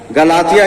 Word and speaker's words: गलतियों: इसको लिखी है और उर्दू में इसका प्रोनाउंसिएशन है गलतियों। तो गलतियों का मतलब ये गलतियों मत समझ लेना आप, गलतियां नहीं है।